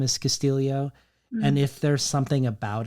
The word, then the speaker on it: Castillo: in this book um which looks like Castillo but is pronounced Castillo because it feels like